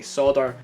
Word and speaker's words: solder: Now I know some people say solder, but I'm just going to say it. Solder, you know, like it's spelled.